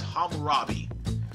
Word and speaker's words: Hammurabi: that is the out that looked like harambe but it's Hammurabi it I swear it looked like harambe Hammurabi would bring us to